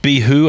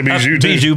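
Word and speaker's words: Bihou: And I've heard people who speak Japanese pronounce it behoo. I've also heard people who speak Japanese pronounce it behoo. I've seen people say beu but I think that's wrong.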